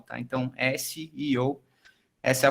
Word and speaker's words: SEO: é a pronúncia correta, SEO também não é, CEO é o presidente da empresa, então também não é o SEO, e o SEO se realmente pronuncia cada letra de forma individual, tá? Então, SEO, essa é a forma